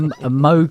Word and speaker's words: Moog: It just says as in Vogue.